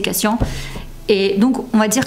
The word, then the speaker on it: Cassian: basé sur Nesa et Cassian cascian ce n'est pas comme on voulait le prononcer moi c'est Cassian et donc on va